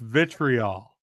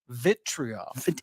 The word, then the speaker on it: vitriol: It's pronounced vitriol. Vitriol.